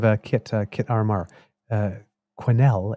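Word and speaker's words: Quesnel: kit kit RR uh quenel is a hard Q with a W attach so quenel instead as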